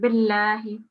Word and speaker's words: بالله: So just before we continue on the surah, you've made a thick sound on the Lamu Jalala. It's just a thin sound, billahi.